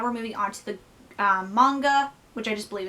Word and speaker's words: manga: was pronouncing it, because I was pronouncing it manga, because sometimes when I'm talking fast, and especially on video, I just pronounce the words as I see them, and I see manga, so I pronounce it manga, but it's manga with an H in there, like H sounding, yeah.